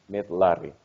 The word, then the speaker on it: miðlari: It's the R. Miðlari. Mittlarri. Hmm. Mittlarri. Yes. Okay. Fastegna Mittlarri. There's a tiny hint of an S sound in your R's.